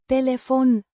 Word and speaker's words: telefon: Telefon. Means telephone or phone. Pronounced Telefon. with the stress on the second syllable.